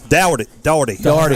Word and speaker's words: Daugherty: Daugherty. I'm going to get it right. Daugherty. Sean, I keep thinking Sean Daugherty, the basketball player in NASCAR. I got you. That's the same pronunciation, Daugherty.